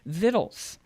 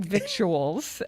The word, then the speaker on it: victuals: has done this book called viddles and it's spelled it looks like victuals but only some Yankees would say that I think we're talking